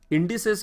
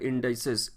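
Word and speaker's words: indices: इंडिसेस क्या होता है? इट इज the plural form of इंडेक्स। हाँ, इंडेक्स है सिंगुलर और उसका प्लूरल होता है इंडाइसेस। इंडाइसेस भी प्रोनाउंस करते हैं, इंडिसेस भी बोलते हैं।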